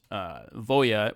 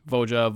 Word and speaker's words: Voja: talked about earlier was Voya, which I pronounced wrong in the video. It's Voja, Voya, Jaws of the Conclave.